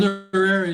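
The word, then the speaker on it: Chizarira: Chisarira, am I pronouncing that correctly? Chisarira, yeah. Chisarira.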